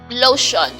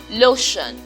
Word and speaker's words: lotion: in his spelling but in the pronunciation we have just a sh sound lotion lotion lotion so it's not the